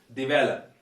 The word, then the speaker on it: develop: it is developed and the stress is here the valor and you know that when when there is a verb we generally uh stress the second syllable and this one is